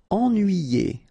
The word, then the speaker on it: ennuyé: Ennuyé. Okay, so first en, then nuit, then yé.